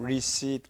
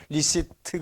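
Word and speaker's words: receipt: 마금 마지막에는 틀을 그 마지막 모음 다음에 받침으로 한번 생각하고 발음해 보세요 그러 그렇죠네 다시 한번 예데 보통 우리는 그 발음을 배우기 전에 리시트 그러죠 트란 말 하지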